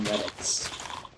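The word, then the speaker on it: Radetzky: to count ysf um Von I think it's count ysf retki Von reddits is how it's pronounced if you ever listened to classical music I believe it's hidden or has a redet ski March you should go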